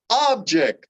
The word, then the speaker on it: object: notice how that works object most nouns if they've got multiple syllables will have the emphasis on the first syllable object and verbs on